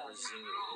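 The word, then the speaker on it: résumé: Where does the accent go in resume? Dude, it's pronounced resume.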